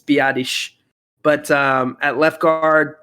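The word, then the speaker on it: Biadasz: do know his is I researched how to say that name just to be sure that we were saying it right so I wanted to do him Justice um it's biadish but um at left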